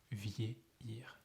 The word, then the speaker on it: vieillir: Vieillir. So this one can be difficult to pronounce, vieillir, but actually, no.